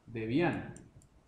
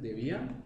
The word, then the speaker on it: Debian: Algunos lo pronuncian Debian, otros lo pronuncian Debian. En México se pronuncia Debian. Yo he hablado con colegas mexicanos y dicen Debian, me dicen Debian. Yo lo digo Debian, pues no es una cuestión, digamos, tan complicada.